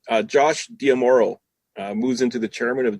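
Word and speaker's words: D'Amaro: Josh Diamoro moves into the chairman of Disney Parks. Is that how you pronounce it?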